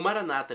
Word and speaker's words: Maranata: na última sílaba, ou Maranata com a tônica na penúltima sílaba, como dizem nossos irmãos separados, os evangélicos ou protestantes.